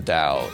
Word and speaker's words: Dao: this is typically like historically this has been spelled with a t t AO U but I'm using Dao because I figured I don't want to create more confusion I've seen D used more often these days than not so any figured I would spell it the way it sounds um da usually translates